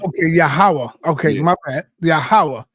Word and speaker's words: Yahawah: is God but the name of the god in Israel is yahawah some people may say Jehovah some people may say Yahweh but in the Bible